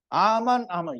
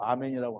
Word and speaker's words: 아멘: 또 가라사대, 또 가라사대, 진실로 truly truly 아만 이게 또 아멘이라고 하면 또 발음이 틀렸다고 하니까 아만 너희에게 이르노니 하늘이 열리고 하늘이 열려요.